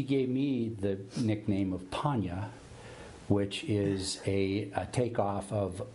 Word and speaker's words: Ponya: Swahili, if you pronounce it with a long O, Ponya, it means cure or healing.